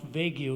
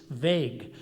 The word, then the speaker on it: vague: got news for you it's really not vague ue it's vague maybe I should give